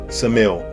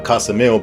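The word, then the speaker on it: Ksamil: is Sarandi and Samil. I was pronouncing Kasm, but apparently the K is silent.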